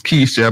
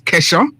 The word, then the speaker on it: Kesha: Some people would pronounce the name as Keisha, but I think the proper pronunciation is Kesha.